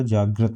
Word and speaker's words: जागृत: इससे पहले भी एक ऑप्शन में ये आया था, जिसका सही उच्चारण जो होगा जागृत होगा।